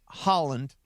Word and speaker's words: Haaland: Erling Haaland. Say it like the country, but it's spelled a little differently.